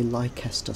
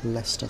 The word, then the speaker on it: Leicester: can see there now a lot of um non-brits tend to say lycaster square because that's the way it's spelt but uh english is not a phonetically spelled language it's leicester square and as it's christmas